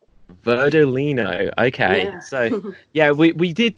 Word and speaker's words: Verdolino: as well just before we began oh that's pronounced verdolino verdolino okay so yeah we did just say before